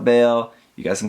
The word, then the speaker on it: Bael: If you're reading the Japanese pronunciation, it's actually Baeru, and I don't see anyone actually calling it Baeru, so I'm just gonna call it Bael.